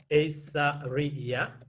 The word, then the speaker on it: Issariya: for example uh my my name is so asa riya okay here four syllable asa read yeah so when you check